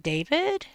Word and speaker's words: D4vd: and he just says his name is David and he just says it David.